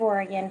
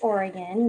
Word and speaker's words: Oregon: So a little information on the state of Oregon for comparison, and our state is actually pronounced Oregon, not Oregon, like it is spelled.